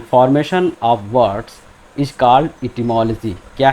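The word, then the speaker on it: etymology: Lecture 2 में इटिमोलॉजी। ये क्या है? इटिमोलॉजी। इसको बहुत से लोग इसका प्रोनाउंसिएशन गलत करते हैं, इटाइमोलॉजी बोलते हैं या इटिमोलॉजी बोलते हैं। तो आज आप इसको करेक्ट कर लें।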